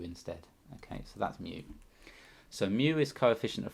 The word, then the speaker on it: mu: lowercase letter mu okay so pronounce mu like the word for the sound a cat makes and you're gonna write